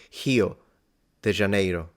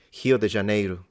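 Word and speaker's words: Rio de Janeiro: spring break Hog Wild the r is very often pronounced as an H like so yeah I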